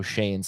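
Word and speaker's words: Schoen: learned how to pronounce joe shane's last name s-c-h-o-e-n pronounced shane congratulations to benji haney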